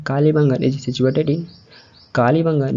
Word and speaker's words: कालीबंगन: तो इसे कालीबंगन या कालीबंगन ही प्रोनाउंस किया जाता है।